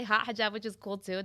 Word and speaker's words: Haute Hijab: Well, it's hot. I say hot hijab. Okay. But it's haute hijab. It's French.